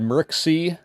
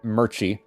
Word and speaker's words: Murchie: So we had Merxy, or no, not Merxy, Murchie. It's pronounced Murchie.